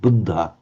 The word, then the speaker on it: Buddha: But if they've been careful in chanting in Thai, then of course you'd be more careful to double it. The Buddh Buddha.